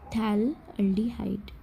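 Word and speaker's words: phthalaldehyde: Ortho और Meta पे CHO लगे हैं, तो इसका नाम बोल देंगे हम थैलल्डिहाइड, ठीक है, थैलल्डिहाइड। और P साइलेंट है तो हम इसलिए नहीं बोलते, सिर्फ थैलल्डिहाइड बोलते हैं, ठीक है।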